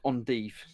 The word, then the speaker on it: endive: And endive is pronounced endive.